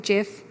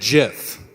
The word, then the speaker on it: GIF: reach the audience so who calls it jiff show of hands and gif on the other side okay it looks like so Steve he invented the gift was 1987 our context is that things have changed a bit since 1987 just a bit just a bit it was named Jeff like the peanut butter and I said things